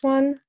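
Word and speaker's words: を: This one, don't pronounce the W. It's just o.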